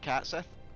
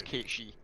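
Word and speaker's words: Cait Sith: the thing behind it yeah so most people pronounce it cat Seth yeah uh the actual pronunciation for those who don't know as it goes back to Scots and our Gaelic Legends and it's kichi I must first find a passage that leads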